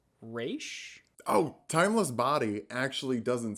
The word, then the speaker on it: Ra's: Also, I'm pretty sure it's pronounced Raish?